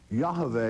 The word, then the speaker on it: Yahweh: that in the Hebrew on the moabite stone Yahweh is spelled correctly y-a-h-v-e-h Yahweh and it is amazing